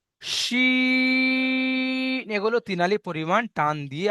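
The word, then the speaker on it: شين: শিন। তিনালি টান দিয়ে সিনটা সিটি পাতলা আওয়াজে বার করতে হবে, আর শিনটা মোটা আওয়াজে। শিনের উচ্চারণ হয় জিভের মাঝখান ও ইস্পজ ওপরে তালুর সাথে লাগিয়ে শিনটা উচ্চারণ করতে হয় ভাইজান।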